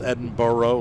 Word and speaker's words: Edinboro: as Edinburgh yeah but isn't isn't it spelled Edinboro like bo bo r ough like in burrow is actually spelled out Edinboro yeah I miss the